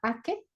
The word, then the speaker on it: pace: En el caso de Pache, Sí, sería, que es paz, en la pronunciación clásica sería Paque.